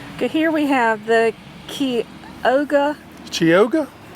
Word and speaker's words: Chioggia: Okay, here we have the Chioggia. Chioggia? Key, is how it's pronounced.